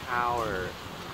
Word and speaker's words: tower: Và khi mình làm tower, bảy miệng ra cái âm mình làm trong miệng tower, tower và tower.